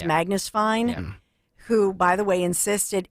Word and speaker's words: Fiennes: Fine. Ralph Fine. Yeah. Ralph Fine. It's Magnus Fine, who, by the way, insisted it absolutely happened.